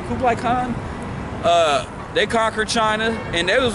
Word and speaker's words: Kublai Khan: Kublai Khan.